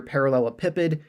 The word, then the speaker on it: parallelepiped: solid known as a parallel pipid all right and you might hear it pronounced other ways you might hear parallel PID doesn't really matter as long as you